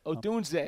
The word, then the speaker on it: Odunze: Odunze.